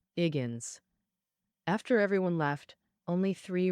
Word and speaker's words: Higgins: The male lead, Higgins, his name starts with H, which he doesn't pronounce, so it sounds like Iggins.